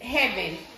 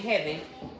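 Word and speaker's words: Hevin: So yeah, it's heaven. That is so cute, and it's spelled H-E-V-I-N, heaven. And I hope I pronounced it correct. I'm almost certain her name is Heaven.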